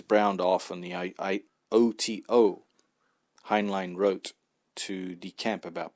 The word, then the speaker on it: Heinlein: At the time, Heinlein, as it should be more accurately pronounced, was working as technical